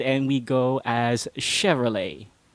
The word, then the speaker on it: Chevrolet: And this car brand is not pronounced with a B sound, as what most Filipinos do. They mix up their B's and their V's. It's not Chevrolet.